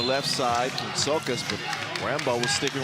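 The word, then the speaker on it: Rambaut: He says it's Jules Rambo and Vincent Fauché.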